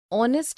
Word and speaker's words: honest: Because the words heir, honest and hour begin with a vowel sound, as the initial consonant H is not pronounced.